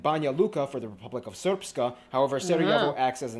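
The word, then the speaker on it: Srpska: It's pronounced Serpska.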